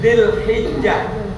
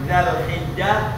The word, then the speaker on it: Dzulhijjah: Tanggal 9 bulan haji, bukan September, bukan Oktober, atau besok bukan Juni, tapi tanggal 9 Dzulhijjah. Boleh bilang Dzulhijjah, boleh bilang Dzulhijjah, boleh bilang Dzulhijjah.